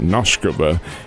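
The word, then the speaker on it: Nosková: Nuscova who is 21 years old I believe and she pronounces it Noskova.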